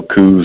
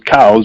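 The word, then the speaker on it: Coues: something else you know coos or cows or something it wasn't it was cows just like cows because i as i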